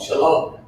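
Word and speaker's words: שלום: Shalom.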